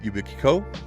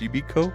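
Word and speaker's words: Yubico: ones out there is ubiko I think it's pronounced yubiko yubiko um and you literally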